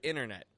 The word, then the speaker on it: internet: The T disappears from the word internet.